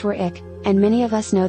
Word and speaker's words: Warwick: place names, namely, that of the W in the Wich suffix, which, as I understand it, is not enunciated.